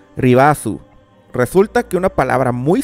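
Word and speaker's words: リバース: La palabra Reverse en katakana se escribe como sigue y más o menos se pronuncia Ribasu.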